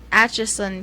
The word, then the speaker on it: Atchison: Atchison, Just say itchy son. Atchison, Kansas.